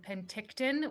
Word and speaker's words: Penticton: over the um Podium Chase pack of um Penticton which Jason taught me to pronounce last time so thanks Jason um the